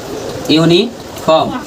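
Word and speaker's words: uniform: लेकिन जब उच्चारण हम कर रहे हैं यूनिफॉर्म का यूनिफार्म का तो यू का उच्चारण क्या आ रहा है? यू आ रहा है।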